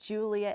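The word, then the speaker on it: Giulia: It's it and it's Julia and it's spelled G I U L I A Punti.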